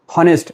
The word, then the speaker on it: honest: Remember, in this word H is silent. Therefore, it is not pronounced as honest. It is honest.